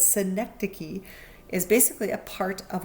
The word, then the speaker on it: synecdoche: So synecdoche, it looks like synecdoche, but don't say it. It's synecdoche, is basically a part of a whole.